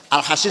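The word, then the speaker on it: الحصين: Al-Hasin sod bukan sin. Kalau sin Al-Husain, kalau sod Al-Hasin bacanya.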